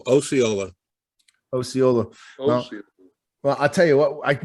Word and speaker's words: Osceola: Pronunciation long O. Osceola. Osceola.